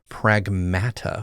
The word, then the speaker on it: Pragmata: and that was uh Pragmata which breaks my brain to say it that way but that's how they say it.